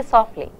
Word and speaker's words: softly: You say softly. The t is really not there.